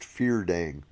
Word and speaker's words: Fyrdarig: Next is the Fyrdarig, pronounced Feardang.